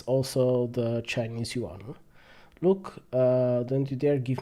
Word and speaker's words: yuan: will do one more the Chinese yuan is the currency here that word is one syllable I hear people go you are or you are and that's kind of painful I'm not sure how